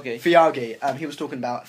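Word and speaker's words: Feige: Kevin, how do you pronounce his last name? Fiagi.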